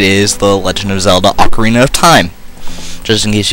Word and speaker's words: Ocarina: title some people say Ocarina some people say okarina I prefer Ocarina and I think that's the technically correct way of pronouncing it I'm not entirely sure about that but I think it is so anyways uh yeah